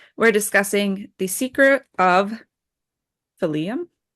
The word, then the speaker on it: Phelim: Phelim? Darke. Darke. It's French. That's why it's Darke. Yeah. I would just say Phelim. I went with Phelim. Well, like Nephilim, name, right? Nephilim. Phelim. Yeah.